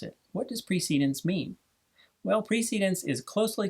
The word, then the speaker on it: precedence: by examining the pronunciation there's a strong tendency to read this word as precedence but Robert's Rules of Order actually gives the proper pronunciation indicating that it is pronounced precedence so if anyone tries